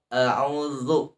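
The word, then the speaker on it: أعوذ: Qul a'udzu, bukan du tapi zu. seperti digigit lidah kita tapi tidak.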